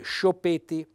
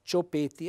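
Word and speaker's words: s-ciopeti: SC se io non mettessi questa lineetta fra la s e la c o un apostrofo Perché alcuni mettono l'apostrofo verrebbe spontaneo leggere sciopetti Allora per far sì che il lettore legga le due lettere separate SC si mette una lineetta o una apostrofo quindi cioppeti è la varicella sgherro Beh Accento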